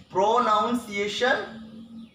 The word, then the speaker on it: pronunciation: Pronunciation? No, it's not the correct pronunciation. The right way to pronounce it is pronunciation. Many people tend to pronounce it as pronunciation, not pronunciation, pronunciation.